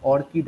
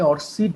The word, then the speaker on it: ORCID: এই মুহূর্তে সবচেয়ে গ্লোবালি উঠে আসছে সেটা হচ্ছে অর্কিড আইডি, ORCID। অনেকে এটাকে অর্সিড বলে, অনেকে অর্কিড বলে, দুটোভাবেই উচ্চারণ করে।